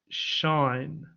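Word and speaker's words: sinh: Over here, we've got, looks like sine, but you pronounce it shine, okay? Like moonshine or sunshine, okay?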